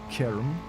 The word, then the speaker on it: Caterham: Learning of the day for me, how to pronounce Caterham correctly. Caterham.